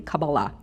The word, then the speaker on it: Kabbalah: worthy of receiving it the word Kabbalah which is the correct pronunciation ozzie accent but the correct accent would be Sephardic which would be Kabbalah itself means received and/or